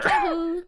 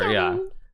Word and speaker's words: Hikaru: I've heard a lot of French people say my name the other way, so I actually like it. I prefer it that way. So that's better. Hikaru. That's better. Hikaru.